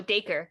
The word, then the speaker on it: Dacre: Oh, Dacre. Dacre. Like acre with a D in the front.